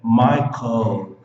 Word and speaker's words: Michael: Se você não fizer isso, você vai pronunciar som de U, som de vogal. Não pode, é som de consoante.